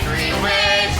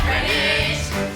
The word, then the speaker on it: Greenwich: It's Greenwich, not Greenwich. Say it phonetically.